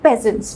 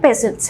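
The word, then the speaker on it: peasants: और सबसे लास्ट में आते थे कॉमन मैन यानी पेजेंट्स। ठीक है, पीजेंट प्रोनाउंसिएशन नहीं है, पेजेंट्स है।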